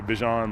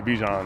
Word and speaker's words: Bijan: and my mom's like, "Why do you say your name like that?" Like, and I mean, that's just how everybody says it, but I don't. It doesn't really like affect me on how it's said. So if you guys want to say Bijan, like, go ahead. But if you guys want to say Bijan, I mean, I'm cool with that too.